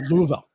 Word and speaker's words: Louisville: comment you have to that's a southern pronunciation you have to slur the words together so it's a Louisville go ahead um so